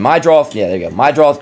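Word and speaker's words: Meidroth: You got Madroth. I can never say his name. Mydroth.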